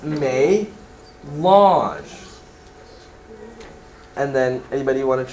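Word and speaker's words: mélange: word below that melange so the uh n when it's small and at the top makes the uh nasalized end sound that you hear in french the uh ah so this is may launch and then anybody want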